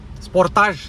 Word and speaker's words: Sportage: At the Kia Sportage, Sportage, because that's what the car is called, Sportage, I pronounce it wrong, 'Sporteege'.